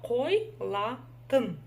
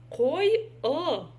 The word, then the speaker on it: Қойылатын: Слово қойлатын. Қойлатын. Ой, пардон, наврала. Қойылатын. Қойылатын.